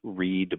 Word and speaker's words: Reid: but I love that your last name is read but not spelled like read I'm a nobody I'm